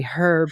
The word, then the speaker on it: herb: Craig and I said that yeah, I'm uh I'm not taking Brits seriously when they tell me to say Herb anymore if they're not saying the the H and Anthony.